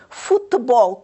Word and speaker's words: futebol: A seguir temos a palavra futebol. Onde é que nós acentuamos? Futebol. Qual das sílabas é lida com mais intensidade? Futebol. Já viram? Onde é que nós vamos acentuar, meninos? Então, na última sílaba.